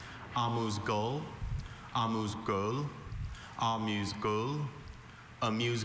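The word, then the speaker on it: amuse-gueule: I have a few pronunciations. Amuse Gul.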